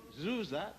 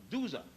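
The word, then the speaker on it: Djoser: the third dynasty under the pharaoh zuza d-j-o-s-e-r otherwise called sir s-e-r which the greeks could not pronounce and they called dusa d-zior a man this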